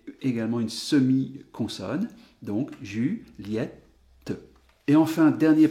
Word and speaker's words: Juliette: à la prononciation que le i de julie ou entend bien la